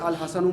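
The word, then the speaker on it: الحسن: शमसी है कमरी है कैसे पता चला लाम प लाम पढ़ा जा रहा है जैसे अल कमर में लाम पढ़ जा रहा ऐसे अल हसन में भी लाम पढ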